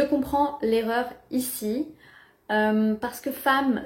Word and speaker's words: femme: l'erreur ici parce que femme s'écrit avec un e mais se prononce comme un a femme en revanche dans